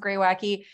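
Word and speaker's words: Greywacke: New Zealand Pinot Noir from a producer called gray wacky so that's pronounced gray wacky this is the kind of local name for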